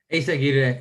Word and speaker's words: Eyzaguirre: Eyzaguirre is how you say it. Eyzaguirre.